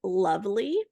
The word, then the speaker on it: Luvly: And just a month or two ago, I found Lovely. It's spelled Luvly.